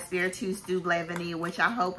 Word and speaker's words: vanille: So next we have Atelier, and this is a vanille incense, vanille, is that how you say it? It's not vanilla. I think it's vanille incense.